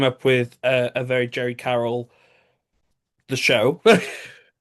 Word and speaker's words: Carroll: because my surname is Carol and it's spelled C A O D L and it's it's like the word Carol that's in the the title of the novel.